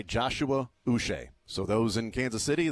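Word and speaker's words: Joshua Uche: was uch the whole time I called him Josh uch so I was I was wrong on both yeah you're the you're the problem I know right uh but he wants to go by Joshua us so those in Kansas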